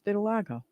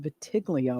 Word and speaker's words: vitiligo: Yeah, it's vitiligo. I know vitiglio. What the heck? Well, look at how it's spelled. Not give me a what the heck. No, the world is wrong. I'm not. Well, it's good to know. I mean, what? Then move the O.